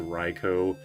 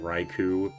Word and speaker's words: Raichu: Like he was saying Ratata and like he was alternating between Reicho and Raichu and it was just like kind of annoying.